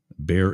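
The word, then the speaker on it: Baer: CIA operative officer named Bob be bear is spelled b AE R I think like Brett Bear of Fox News three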